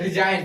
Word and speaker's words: resign: RESIGN रिजाइन, रिजाइन में क्या होता है त्याग पत्र देना, रिजाइन, जी का उच्चारण नहीं हो रहा है ना, ठीक है।